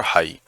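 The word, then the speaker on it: high: और हाई, इसमें भी जी साइलेंट है।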